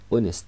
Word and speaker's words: honest: انت بتقول ان اونست عشان اونست ما بننطقش الاتش.